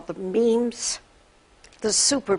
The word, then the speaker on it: meme: 1976 Dr Richard Dawkins coined the phrase memes and he came up with that word so that it would rhyme with genes and what he observed